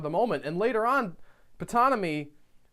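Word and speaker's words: Ptonomy: moment and later on putana me who's you're supposed to pronounce the P and putana me guys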